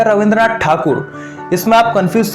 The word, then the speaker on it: ठाकुर: अब रविंद्रनाथ टैगोर या रविंद्रनाथ ठाकुर, इसमें आप कंफ्यूज तो नहीं हो? दोनों एक ही व्यक्ति के नाम हैं, रविंद्रनाथ टैगोर या ठाकुर।